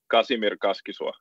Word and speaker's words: Kasimir Kaskisuo: Kasimir Kaskisuo.